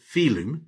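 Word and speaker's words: filum: 2,000 years ago, the Latin word phylm pronounced film meant this.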